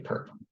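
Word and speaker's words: ⊥: The orthogonal complement of W is another subspace of V, which is denoted W with this symbol up here, which is usually pronounced perp.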